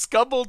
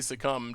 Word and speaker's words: succumb: Like, I was so convinced that that is how you say succumb to temptation.